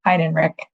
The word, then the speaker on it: Heinrich: Heinrich.